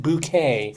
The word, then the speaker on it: Bucket: But, Cynthia Bucket, but she pronounced it bouquet because that was the character.